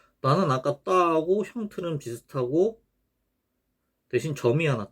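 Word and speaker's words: ط: 요 타보다 둔탁한 소리입니다. 두껍고 둔탁한 소리, 무거운 소리. 이것도 혀가 밑으로 쫙 깔리면서 나는 소리죠. 떠. 이것도 눈을 좀 크게 뜨면 의식적으로 혀가 좀 내려갑니다.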